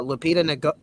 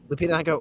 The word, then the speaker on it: Lupita Nyong'o: So one of the original actresses was supposed to be, hopefully I pronounced the name right, Lupita Nyong'o. Lupita Nyong'o.